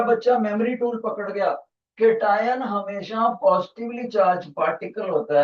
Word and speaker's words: cation: देखो teacher spelling कैसे लिखने लगा है केटायन, CATION, केटायन। कोई बच्चा बोलेगा सर आपसे टी छूट गया, तभी टीचर उनको बोलता है बेटे टी मैंने छोड़ा नहीं, डेलिबरेटली मैंने उसको मिस करा ताकि मैं टी